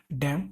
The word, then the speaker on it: damn: और नेक्स्ट है DAM डैम मतलब बांध, और DAMN डैम, जहाँ पे एन साइलेंट है।